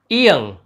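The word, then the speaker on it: 이응: और ये जब शब्द के अंत में आता है तो इसका उच्चारण होता है त, त। इसके बाद अगला व्यंजन है इयंग, इयंग।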